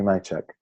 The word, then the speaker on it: Majchrzak: the Danny Picard and is Timmy my Chuck yeah did I finally pronounce it accurately yeah so is in